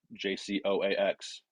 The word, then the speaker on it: Jacokes: much on everything as at jcoax um which is how you say my last name um but twitter and